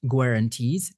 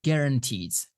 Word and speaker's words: guarantees: Next one is guarantees, not guarantees, guarantees.